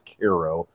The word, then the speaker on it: Cairo: piece on Koo Illinois it's spelled like Cairo but everybody says Koo and that's I think